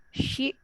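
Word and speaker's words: し: Si itu hampir seperti lam kalau dalam bahasa Arab. Shi itu.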